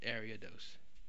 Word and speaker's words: Ariados: is ariados and yes it's area though it's not a riotous or any other pronunciation it's ariados and if you don't like it well you better start saying it that way I'm just kidding I don't care but the official pronunciation is ariados but the reason why